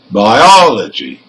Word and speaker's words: biology: Now here, for words ending in CY, TY, PHY and GY, the stressed syllable is the third from the end.